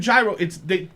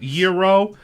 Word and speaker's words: gyro: a real gyro or however you say it, gyro. They take the flat meat. Like Is that how you say it? Hero.